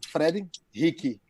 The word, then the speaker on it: Frederique: uh spell it uh say like portuguese it's freddy hickey the air is not freddy like what you get on your neck the hickeys yeah okay